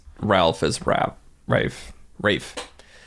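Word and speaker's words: Ralph Fiennes: Ralph is rap ra Rafe strange English Quirk where something is pronounced entirely different than how it's spelled well his brother the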